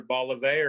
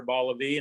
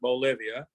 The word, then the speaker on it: Bolivar: The correct pronunciation from locals is either Bolivar or Bolivar, not Bolivia.